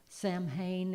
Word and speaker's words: Samhain: Samhain is how we would pronounce it.